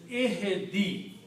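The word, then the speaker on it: اهدِ: And pronunciation is ihdi.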